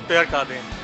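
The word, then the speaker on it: Pierre Cardin: This is पेयर कार्डे, the pronunciation is पेयर कार्डे।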